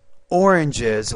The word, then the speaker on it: oranges: some problems here now when you say oranges you have three syllables not one so apples bananas oranges lemons and grapes now